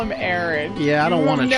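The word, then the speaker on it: Auron: back at her running away, looks back at Aaron, looks back at her, and then he runs off, and then Aaron's just kind of standing there, and then he I love how you call him Aaron.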